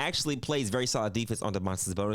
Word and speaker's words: Domantas Sabonis: Now, going through Domantas Sabonis stats right here, Domantas Sabonis, that's how you say it.